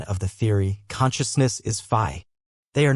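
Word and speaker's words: phi: A Greek letter fi pronounced fi.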